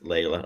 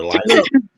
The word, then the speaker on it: Lila: So thank you, Miss Layla or Lila. How do you say your name? Leela? Leela? Yeah. Leela. Leela, send me an email